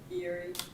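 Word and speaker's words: Eyre: 3608 Erie Drive. It's spelled E-Y-R-E.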